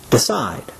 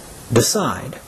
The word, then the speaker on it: decide: example the verb decide the stress is on the second syllable and is pronounced decide decide repeat after me decide